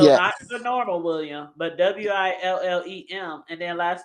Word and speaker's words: Willem: Man, It if y'all was don't they, know William Dafoe and y'all watching us right now, his first name is spelled Willem. So not yes, the normal William, but Willem, and then last name And D, Dafoe.